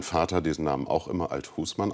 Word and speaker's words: Althusmann: cdu spitzenkandidat bernd althusmann eine neue betonung seit neuestem legen sie wert auf die betonung auf der zweiten silbe also althusmann letztendlich hat mein vater diesen namen auch immer althusmann ausgesprochen und so spreche